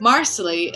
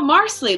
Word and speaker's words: Marsley: to tell the fans the way you pronounce marsley is like parsley so everyone since season three has gone around saying oh marsley like parsley and the